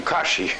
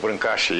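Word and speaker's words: Brâncuși: Brancusi was the Oh, famous wood carver. Brancashi. That's the real name. Pronounce it Brancashi? Brancashi, yeah.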